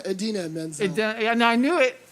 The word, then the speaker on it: Idina Menzel: Menzel? Idina Menzel.